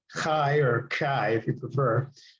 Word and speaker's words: chi: and this is designated by a Greek letter Kai. Kai or Kai if you prefer. It's not chi. It's not chi. Please don't pronounce it chi.